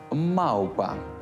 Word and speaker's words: мавпа: є така проблема запам'ятайте у кінці складу на місці в треба вимовляти щось середнє між у та в цей звук називають у нескладовим Любов маупа не любов і не мав оглушення - це ознака російської мови любов мавпа сказав авторитет